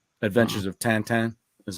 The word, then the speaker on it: Tintin: movie you ever seen the movie adventures of tintin actually it's adventures of tantan that's how you're supposed to pronounce it there's a person out there who